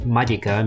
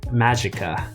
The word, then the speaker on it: Magica: just so you know the actual correct pronunciation of the original latin word is apparently magicka oh well okay let's